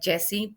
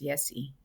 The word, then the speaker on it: Yesi: So, it's actually Yesi with the Y. Yesi with a So, Y. yeah, I know it's pronounced sometimes in Mexico like Jesse, but my mom wanted to make sure I was pronounced Yesi.